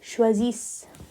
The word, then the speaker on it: choisissent: But we don't pronounce the ENT, so it becomes il ou elle choisissent.